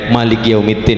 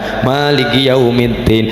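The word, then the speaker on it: ملك يوم الدين: Dalam bacaan Imam Malik , "mim" dalam Al-Fatihah diucapkan pendek. Maliki yawmiddin. Padahal biasanya kita memperpanjangnya selama dua ketukan. Maliki yawmiddin.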